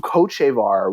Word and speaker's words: Hochevar: Luke Hochevar was, someone who was considered essentially, is that how you pronounce his name, by the way?